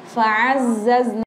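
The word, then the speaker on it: فعززنا: Nah, fa'azzazna. Cara bacanya kita tasydidkan dulu za-nya.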